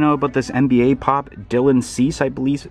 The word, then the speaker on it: Dylan Cease: And then right here I thought I'd point out about this NBA Pop, Dylan Cease, I believe it's pronounced, which it just so happens that if